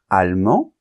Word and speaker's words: allemand: et n argentin Argentine allemand on nentend pas la lettre D parce qu'elle est en position finale allemande et on va entendre la lettre D parce que d n'est plus en position finale et le E est muet d'accord bien donc fais